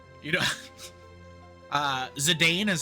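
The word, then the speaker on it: Zidane: I guess I guess I can sort of see how a person could get Zadon. It's not right. It's definitely Zedane, but I I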